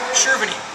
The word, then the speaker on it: Cherveny: Cherveny. Cherveny. Yeah, it's Bohemian. Cherveny. Right. Mr. Cherveny.